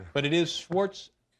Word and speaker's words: Schwarzenegger: I mean, but it is Schwarzenegger. Schwartzen. Schwarzene. Actually in Austria they pronounce it ekaenka.